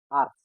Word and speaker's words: Arzt: Arzt, which means doctor. It has Z, but we pronounce it with S.